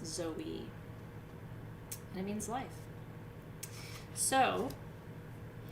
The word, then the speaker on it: zoe: daughter's name zoe so the word life in greek is z-o-i and the accent is on the i so it's zoe and it means life